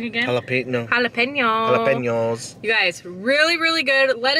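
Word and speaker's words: jalapeños: Those jalapeno are good. Did I say it wrong again? Jalapenos.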